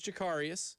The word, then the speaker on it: Jacarius: But with Jacarius Peak joining the team, now I have been told by Chris Clark, it is Jacarius.